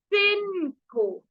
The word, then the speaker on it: cinco: Five को बोलेंगे स के ऊपर ई की मात्रा सी, न, सी के आगे ओ, को, सिनको, सिनको।